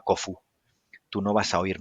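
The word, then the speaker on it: Khufu: de la pirámide de keops es que nuestro guía turístico que era fantástico Además nos dijo bueno todo el mundo dice keops pero se pronunciaba kofu tú no vas a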